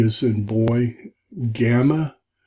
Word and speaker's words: gamma: Gamma, G as in girl, but notice it's a hard G.